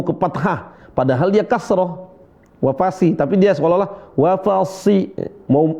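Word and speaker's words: وفصيلته: Perhatikan di sini huruf sh ya. Wa fasi si wa fasilatihi bukan wafasi wapasi bukan tapi wafasi si sh si s si ikutin si si sh si si ah si wafasi shinya tebal nah sinya tebal dia seolah-olah dia mau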